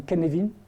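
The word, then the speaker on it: Cynefin: fait successives qui connaît alors ça s'écrit cinéphiles mais ça se dit ken levine qui connaît donc levé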